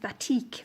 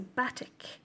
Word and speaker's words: batik: I have a tendency to pronounce it batik, which it isn't, because it's not IQUE, it's just IK, so batik, I guess.